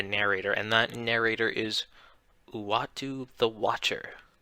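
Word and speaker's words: Uatu: is watu the watcher a lot of people um have a bunch of different ideas of how to pronounce his name i go with one of the more comments which is uwatu um basically he is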